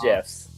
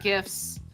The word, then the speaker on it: GIFs: I just pronounce it gifs because the way I look at it, graphic graphic you, you know, image file is it's a hard G for graphic.